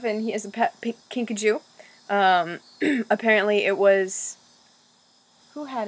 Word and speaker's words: kinkajou: And it's a kinkajou.